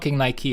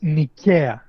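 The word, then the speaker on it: Νίκαια: How do I say Nike? How how do you say it? I will tell you it's Nika.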